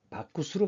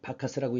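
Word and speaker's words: Bacchus: 디오니소스상인데 이 그리스의 디오니소스가 로마로 넘어가면 이름이 바쿠스로 바뀝니다. 그래서 왜 우리 그 드링크제 바카스라고 있죠. 이것이 영어식 발음이고 로마어로는 바쿠스입니다.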